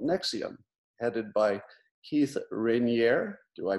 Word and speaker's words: Raniere: of an organization called nexium headed by keith raniere do i pronounce that right right here it's actually rene like canary roneri like canary all right i'll probably get that